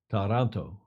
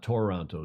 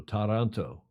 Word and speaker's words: Taranto: But here is the video recap from, I went to see how to pronounce it, Taranto, not Toronto, Taranto.